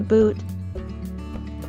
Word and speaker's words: boot: The double O in boot is a long ooh sound.